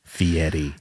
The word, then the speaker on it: Fieri: wrong and I refuse I won't say F Yeti cuz there's not a tea in there baby it's like I'm going